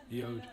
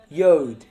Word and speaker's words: Jord: Yode. Yode. J-O-R-D. Yode.